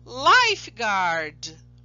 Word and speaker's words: lifeguard: Prestem atenção que depois da letra G eu tenho a letra U. Eu não falo aquela letra U quando eu pronuncio a palavra.